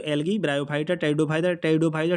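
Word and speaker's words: Pteridophyta: algae ब्रायोफाइटा टेडो Pfizer टेरिडोफाइटा टी से शुरू नहीं होता है पी से होता है पी साइलेंट होता है ठीक है इसके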